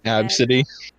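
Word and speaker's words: Abcde: c d e and it's supposed to be pronounced ab city i like that name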